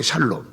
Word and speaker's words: 샬롬: 근데 발음을 잘못하면 여호와 어떤 이상한 놈이 되는데 그 발음이 샬롬이에요. 샬롬.